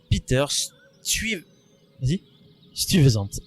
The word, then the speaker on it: Stuyvesant: et il sera donc remplacé par un certain Peter Stuyvesant. Exactement, tu le prononces très très bien. Tu t'es entraîné? Peter Stuyvesant.